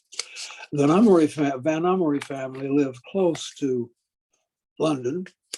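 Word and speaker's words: Vanhomrigh: with the venomari family it's an unusual way to pronounce a somewhat unusual word which was in fact in dutch i'll see if i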